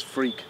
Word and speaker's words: Freke: But I am Freke. It's how it's pronounced in Yeah. England. It's Freke.